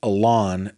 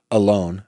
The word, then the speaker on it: Alon: Many people pronounce that Alon, but he pronounces it alone.